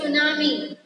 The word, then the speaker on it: tsunami: Name is सुनामी. टी, यहाँ T silent है. TSUNAMI. TSUNAMI. Tsunami. T is silent here.